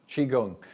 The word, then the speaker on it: qigong: Q is pronounced as C H.